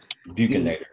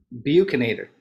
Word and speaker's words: buccinator: There are muscles called buccinar muscles, and the translation of, I don't know how to pronounce that. Buccinator. Buccinator, thank you.